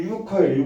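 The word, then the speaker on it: 游客: 유객이 중국 발음으로 유커예요. 유커.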